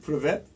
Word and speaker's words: Привет: Privet. Like a pit. Like, No, just say привет. privet. Yeah, sure. Like prevent. Prevent, but without N.